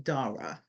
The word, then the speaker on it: Dara: And just so you know, and for your audience, I pronounce my name Dara.